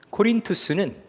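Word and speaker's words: Κόρινθος: 그 아카이아 지역의 수도가 고린도, 원래 발음으로 코린투스입니다. 코린투스는 그리스 지역에서 당대 이제 시간이 지나서 로마가 지중해의 패권자가 됐던 시기에 그 지중해 세계에 유일하게 대학이 있던 곳입니다.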